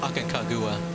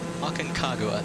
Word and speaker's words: Aconcagua: uh i guess uh it's pronounced like uh like agua right like water so akan i can't